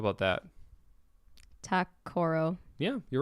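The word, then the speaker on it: Ta-Koro: So, for instance, like that, how would you pronounce that? Zoller. Yeah, that's right. How about that? Takoro.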